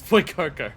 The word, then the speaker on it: 福岡: Is the U-O a single syllable, so it's Fukuoka? Fukuoka? Fukuoka? Fufuka? No, that's the botanist character in FF14. It's Fukuoka.